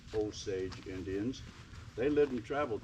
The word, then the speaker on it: Osage: for 3 000 years the Osage we pronounce it Osage Indians they lived and